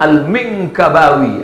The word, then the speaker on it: Al-Minkabawi: Salah satu penasehat raja daripada kerajaan Melayu bernama Syekh Ismail Al-Minkabawi. Minkabawi, dulu saya bingung membacanya. Alif lam mim nun kaf ba alif waw ya, sampai 9 huruf. Apalah bacaannya? Al-Minkabawi. Apa tuh? Minangkabau. Bukan sekedar rumah makan sederhana, tapi juga keilmuan.